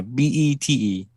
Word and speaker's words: Bête: Yeah, Bete, but it's pronounced Bet.